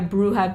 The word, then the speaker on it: Brujah: into the bruja clan or actually brujah as this game closes but we're going to keep the new modern pronunciation which was propagated by bloodlines one which is bruja I could really understand